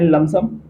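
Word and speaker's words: lump sum: आप शू करोगे ए लम सम एल यू एम प लम एस यू एम प साइलेंट होता है याद रखना एलय एम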